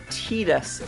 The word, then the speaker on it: Tidus: Lambda, why is it pronounced TEEDUS when TIDUS makes thematical sense for the tradition of characters named after forces of nature?